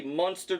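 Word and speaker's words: Muenster: sliced bacon some sliced cheese this is actually monster cheese and that's how it's even pronounced and i've got some cooked sliced ham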